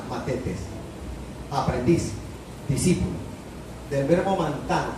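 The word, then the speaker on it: μαθητής: En griego bíblico, idioma en el cual originalmente se escribe el Nuevo Testamento, la palabra es matetes, TH en la mitad, matetes, aprendiz, discípulo, del verbo mantano, que significa aprender.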